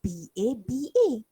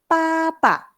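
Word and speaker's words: 爸爸: Tapi ejaan dia adalah B-A-B-A. Dia tak baca baba, dia akan baca papa. Sebab B tu, fayin dia ialah P. Sebutan dia ialah P. Jadi akan bunyi papa.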